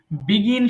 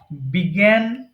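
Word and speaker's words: began: করতে বলবো ওকে বলি বিগিন শুরু করা বিগিন বিগান বিগান আচ্ছা এই লাস্টেরটা অনেকে বিগুন বলে হ্যাঁ এটা কিন্তু রং আমি বাংলায় লিখে দিয়েছি I written বেঙ্গলি pronunciation beside the English so ইটস বিগান তাহলে বিগিন শুরু করা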